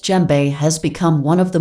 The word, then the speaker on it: djembe: of mali in west africa the gem normally pronounced jembe has become one of the most well-loved hand